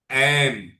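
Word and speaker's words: ऐं: उसका उच्चारण एम। आप देखिए एम।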